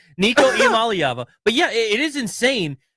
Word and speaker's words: Iamaleava: It's Nico Iamaleava.